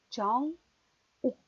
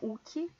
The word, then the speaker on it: Jong-wook: Então, Kim Jong-wook. Jong-wook. Não é Uki. Vocês não vão falar Uki.